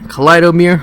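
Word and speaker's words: Kaleidomir: Kido Mir Kido Mir kind of like a kaleidoscope Kido Mir yeah kaleido Mir I can use kaleido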